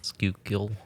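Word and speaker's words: Schuylkill: I finally figured out how to say skole but it's like sh really that's how they spell it the the skookul river skook shle it's like s c h u u k i k y l or some [ __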